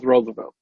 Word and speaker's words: Rosevelt: Well, it's spelled R-O-S-E-V-E-L-T. Ain't that Rosevelt? Roosevelt. No, it's Roosevelt.